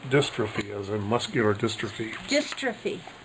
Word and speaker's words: dystrophy: We got to go, but that last word is pronounced dystrophy, as in muscular dystrophy.